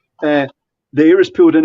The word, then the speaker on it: chassis: same chassis inside them chassis yes it's pronounced differently from different countries but uh chassis if you want but it's chassis chasse the air is pulled